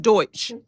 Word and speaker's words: Deutsch: It's pronounced Deutsch.